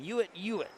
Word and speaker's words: Uitt: Yes, it's said exactly how it's spelled. Yo, UI T is his first name and YO Ui T is his last name. Uitt. If that's not how you spell it, that's how you say it.